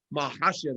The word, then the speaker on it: Makhachev: Makhachev is how you say it. Mm-hmm. Get it right.